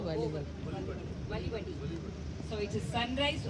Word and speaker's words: Valivade: He is here today to promote his book Sunrise on Valivate. Is the pronunciation correct, sir? Sunrise Over Valivadi.